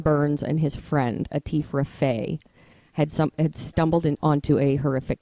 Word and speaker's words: Raffay: And could you spell that? R-A-F-A-Y, Raffay.